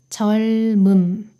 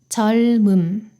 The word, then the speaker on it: 젊음: 겹받침 다음에 모음이 올 때는 앞에 있는 자음은 그대로 두고 뒤에 있는 자음이 이응으로 이동해서 발음됩니다. 젊음, 젊음.